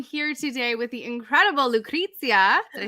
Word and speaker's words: Lucrezia: My name is Lucrezia. You say, no, Sorry. it's good. It's good. You pronounce it Okay.